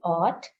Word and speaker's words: aught: These two words are pronounced in the same manner. There is no difference in the pronunciation, whereas there is a difference in the spelling. So the first word, A-U-G-H-T, ought, means anything.